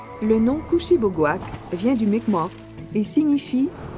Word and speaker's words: Kouchibouguac: Souvent mal prononcé, le nom Kushibougouak vient du Mi'kmaq et signifie « rivière aux longues marées ».